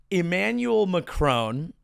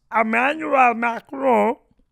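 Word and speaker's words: Emmanuel Macron: This week we did have a little video of Emmanuel Mcronone as we say in the United States or as uh it is pronounced Emanuel Macron if you are doing it in the French parlance.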